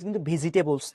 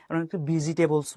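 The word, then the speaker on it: vegetables: student বলতে ঠিক আছে ভেজিটেবলস না ঠিক আছে ভেজিটেবলস বলি এটা কিন্তু ভুল ভেজটেবলস ঠিক আছে এই পর্যন্ত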